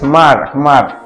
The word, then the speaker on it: Hmar: with the Dag it's not H Mar it's Mar we don't have to pronounce the h you don't have to